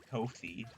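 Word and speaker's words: Ko-fi: Um, I always pronounce it Kofi because it's like coffee.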